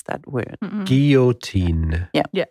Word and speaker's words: guillotine: the sound is a u sound yeah so gi yo tin is the way we pronounce that word guillotine yeah how do you spell it let's just